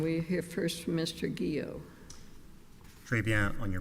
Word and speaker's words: Guillot: Guillot. Très bien on your pronunciation, Your Honor. I ought to be able to after all this time. Good morning, and may it please the Court. Guillot on behalf of the appellant, Offshore Oil Services.